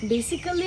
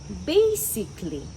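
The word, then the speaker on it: basically: বেসিক্যালি লজিক্যালি বা ফিজিক্যালি এ ধরনের উচ্চারণ কিন্তু আমরা সবাই করে থাকি তাই না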